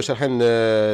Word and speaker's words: Shahan: Et donc, Monsieur Shahan, et donc, je prononce bien, hein, c'est comme ça, c'est Shahan. Oui, c'est bien ça.